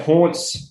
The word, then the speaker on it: Hauntz: But yeah, Haunts, it sounds the same as Taunts, but it is spelled pretty different.